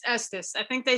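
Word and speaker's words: Estes: is referred to as the s's method we pronounce that wrong it's Estus I think they say Estus it's named for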